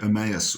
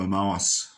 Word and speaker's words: Emmaus: the disciples on the road to emmaus or omaas which is where you want to pronounce it and we know that